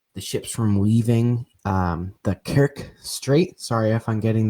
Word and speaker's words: Kerch: I think you pronounce it the Kerch, like you'd pronounce merch.